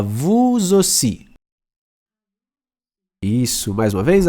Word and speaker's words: vous aussi: Quando o vous tá sozinho, o S não é pronunciado.